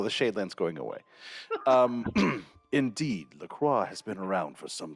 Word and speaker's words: LaCroix: I figured out how to pronounce LaCroix. It's actually Lacroix. Because it's French.